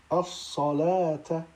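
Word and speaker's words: الصلوٰة: Ensuite, dans ces deux cas, on ne prononcera pas le waw tel que dans au-dessus al-hayati ou bien as-salata.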